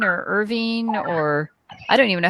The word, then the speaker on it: Irvine: drum Castle now I don't know if it's pronounced Irvine or Irving or I don't even know how it's pronounced